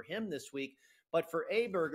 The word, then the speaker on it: Åberg: I don't think the motivation is 100% for him this week, but for Åberg, or Åberg is, I guess, how we are supposed to pronounce it now.